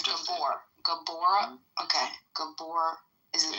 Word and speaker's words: Gabor: Is that how you pronounce it? Tell me the truth. It's Gabor.